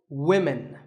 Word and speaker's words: women: But remember that we say woman for one woman and women for the plural, women.